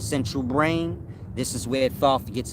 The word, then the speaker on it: Thoth: Of course, like I said, Thoth is thought. If you're familiar with your central brain, your choroid plexus area of the central brain, this is where Thoth gets its depiction, meaning